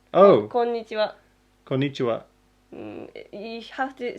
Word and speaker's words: こんにちは: And you have to hit the ni sounding, こんにちは, right? こんにちは. Yeah, you're saying ni strongly. Is that wrong? Oh, こんにちは.